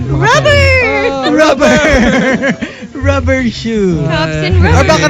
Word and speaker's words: Xu: And then one is last name XU. They pronounce it shoe, right?